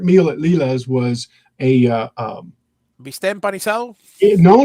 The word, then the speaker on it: bistec: Leela's had my favorite meal at Leela's was a Bistec empanizado?